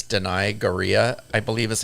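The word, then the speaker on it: Danai Gurira: not worse dress this is actually good it's deny gorilla I believe is how you say her name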